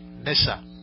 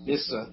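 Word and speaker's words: Nyssa: Sarah Sutton as nicer I believe that's pronounced missa missa thank you not a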